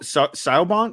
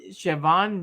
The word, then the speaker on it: Siobhan: what is it siobhan is it show it's s-i-o-b-h-a chavon yale worked with me at espn oh it is pronounced siobhan oh well thanks for